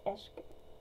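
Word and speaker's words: عشق: i can word anyway this is farsi for love and i think if i'm saying it correctly it's eshk and um i stitch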